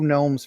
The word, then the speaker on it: Gnome: they just drew two gnomes for me yeah I know it's like so rude and they begin with a G what's that all about been robbed man why the silent G in Gnome why can't it just